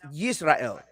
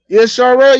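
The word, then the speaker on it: ישראל: Is the nation of Israel, is the name in Hebrew pronounced Yisrael? Yisrael. Yes, it is. Yisrael. Israel. Okay, so With a Y. in the yes, Yisrael. So then, do you think that's Yiddish?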